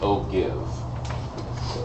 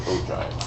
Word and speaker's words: ogive: And no, yes, I know it looks like Ogive, but it's not. You pronounce it Ogive.